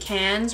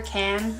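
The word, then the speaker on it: Cannes: step into this shade cans right here can I don't know I think it's French and I don't think you pronounce the S so I think it's can this purple shade right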